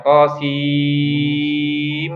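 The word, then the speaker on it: طسم: Makanya mim dikasih tasdid gitu yang thosim. Tapi bacanya bukan thosin ya. Masih ingat kan pembahasan kita bahwa ketika nun sukun atau tanwin bertemu mim maka nunnya melebur dengan huruf mim.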